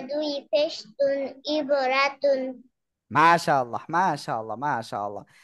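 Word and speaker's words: عِبْرَةٌ: দ্রুত বলেন ইবরাতুন হ্যাঁ আবার বলেন ইবরাতুন আমি বানান করতে বলেছিলাম আইন বা জের র জবর রব তা দুই পেশ তুন ইবরাতুন মাশাল্লাহ মাশাল্লাহ মাশাল্লাহ কি ব্যাপার রাখা কান্নাকাটি করছেন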